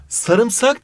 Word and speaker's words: sarımsak: sarımsak mı Sarmısak mı sarımsak diye okunur sarmısak diye yazılır Buna dikkat etmemiz gerekiyor tongu